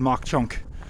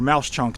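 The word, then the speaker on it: Mauch Chunk: present day gy Thorp used to be called mock chunk or Mouse chunk depending on how you want to pronounce it here has excuse me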